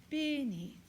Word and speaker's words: beneath: Neath is almost not heard. It's there, but it's remember, it's the second syllable, so it's what we call the syllabic stress. It's beneath.